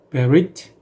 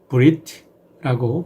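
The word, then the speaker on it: ברית: 언약이라는 말은 히브리어로는 베릿, 브릿라고 발음하기도 하고 헬라어로는 디아테케라고 번역을 합니다.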